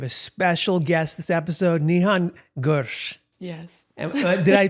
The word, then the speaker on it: Nihan Gur: We have a special guest this episode, Nihan Gur. Yes. Did I pronounce that even remotely correct?